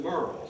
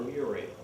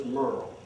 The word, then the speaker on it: Muriel: mother Merl Taylor and she did pronounce it Merurl. She did it was spelled M U R I E F but she did not like you to call her Muriel. Her name was Merl.